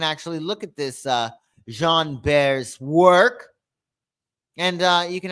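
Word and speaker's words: Jean Béraud: So, we have Jean Bear is how you say his name.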